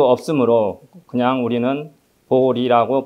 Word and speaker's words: 보리: 것도 바른 번역이 될 수 없으므로 그냥 우리는 보리라고 발음합니다 보리심은 깨달음을 얻고자 하는 마 마음이며 열반의 세계로